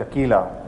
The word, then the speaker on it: Aquila: facilities in Lake project Aquila is the name and I know it rhymes with tequila that's not on purpose